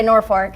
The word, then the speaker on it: Norfolk: Nor- Norfolk, Nebraska. We like to say Norfolk.